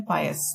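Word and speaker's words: pious: इस प्रोनाउंसिएशन है पायस, धार्मिक, रिलीजियस, डिवाउट, रेवरेंट, होली।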